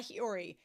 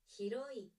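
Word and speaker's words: Hiroi: Not Hiiori. Hi heroy. Okay. So is it Kakuri Hiroy? Do you say that right? I want to know this. Like how do we tell me how to say these things? Um heroy. How do we say that? Hiroy. Hiroy. Okay. I've been saying it wrong the whole time. Not hiiori. Hiroy. Okay.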